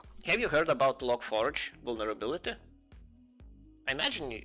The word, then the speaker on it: Log4j: how it's spelled, and people just pronounce it as Logforge.